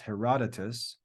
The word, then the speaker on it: Herodotus: Hence, the Greek historian Herodotus, that name is pronounced Herodotus, in a happy phrase called the country the gift of the Nile.